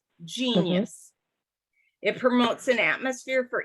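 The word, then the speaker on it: Geneyus: is um kids Sense Oil and it's called genius and it's spelled g-e-n-e-y-u-s genius it promotes an atmosphere for inspiration productivity and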